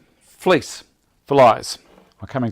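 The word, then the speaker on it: Vlies: not so that's it fleece VL IES and it's pronounced fleece because it looks like fleece okay all right I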